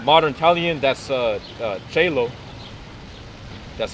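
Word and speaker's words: cielo: In modern Italian, that's uh uh cello.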